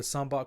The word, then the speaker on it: Sambac: shadows who holds the Sun buck crystal so yeah there are probably a couple pronunciations that you weren't clear on you probably made your own but yeah this it's called the sambar crystal Suleiman is su Lee